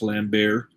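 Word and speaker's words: Lambert: is coming from christopher i believe his last name is pronounced lamb bear uh resurrection is basically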